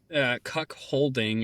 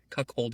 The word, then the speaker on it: cuckolding: cuck holding is a thing. Yes. Is that where you hold a cuck? No, cuckolding.